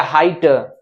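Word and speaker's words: height: जी H silent हो जाता है, वहां जी एच का कोई उच्चारण नहीं आता।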